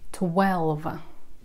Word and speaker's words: twelve: Тоже произносится со звуком «в». Twelve.